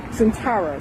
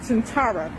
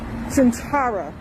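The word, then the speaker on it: Sintara: um audience saying um she's mispronouncing issa's character centara she's pronouncing centa so I C her I said centara okay I heard her she's like Su something something centa or whatever and then I say centara and I said it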